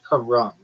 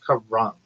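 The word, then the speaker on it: carrom: Karam, the board game is usually pronounced Karam. Not even like Ram. It's Karam. Sounds like car ramen. Emphasis on the first syllable.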